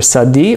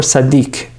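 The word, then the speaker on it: Tzadi: righteousness of human beings there's two ways to pronounce the word it's either Sadi or Sadiq so either way that's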